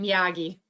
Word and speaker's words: Miyagi: And and how did you say Mr. Munagi? Mr. Muagi? I can't remember how to say his name either. It's been a long time ago. But Miyagi? Yeah, they're getting some people in the chat saying Miyagi.